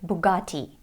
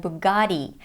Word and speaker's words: Bugatti: it in British English in American English though it sounds like Bugatti because of the American flap T which sounds like a fast D and in this case